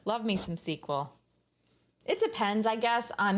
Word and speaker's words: SQL: table but SQL s-u-s your highs and balls pronounce sequel oh as soon as I learned how to